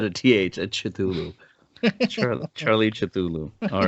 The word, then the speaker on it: Cthulhu: I like the whole the Cthulhu monster, if that's how it's pronounced. I like that Cthulhu. monster. It's Cthulhu.